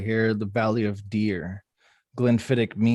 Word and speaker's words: Glenfiddich: I think Glenfiddich is the right way to say it.